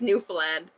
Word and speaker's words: Newfoundland: in canada where on i gotta pronounce properly newfound land okay okay okay okay we don't say it we don't say it like that we say it newfoundland we don't say the ds at all there's no no d